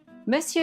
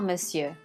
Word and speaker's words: Monsieur: Madame and if it's a man Bonjour Monsieur Monsieur is a difficult word to pronounce so listen to it again and again please repeat after me Bonjour Monsieur if it's after 6:00 p.m.